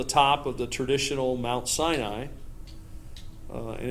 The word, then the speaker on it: Sinai: is Mount Sinai which or in some of the songs that I've sung signee I is the way they have you pronounce it but it's Mount Sinai and it's and that